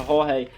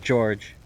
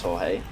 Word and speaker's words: Jorge: way and pronounces it george no and i know commonly it's also jorge is it jorge or is it george do you know uh he is spanish so i believe it's jorge is hiding in flowers